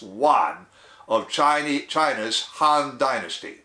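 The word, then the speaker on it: Yuan: Emperor Emperor Juan it's y-u-a-n is pronounced one of China China's Han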